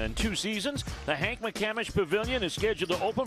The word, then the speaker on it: McCamish: Champion it's how you play and I actually mispronounced that it's the Hank mccamish Pavilion this is actually the mccamish basketball complex